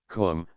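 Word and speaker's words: Koom: immortal Spirit vya immortality Kum pronounced like the Welsh cwm denotes something of holess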